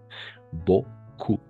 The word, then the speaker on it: beaucoup: Beaucoup, ¿d'accord? Beaucoup. Por eso decimos beaucoup do, porque nuevamente aquí se repite E-A-U y esto va a ser O. Todo esto va a ser O nuevamente.